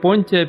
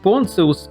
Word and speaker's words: Pontius: That is, we do know his nomen, or clan surname: Pontius, or PonTSius, if pronounced according to the rules of Latin, or Πόντιος, according to ancient books in Greek.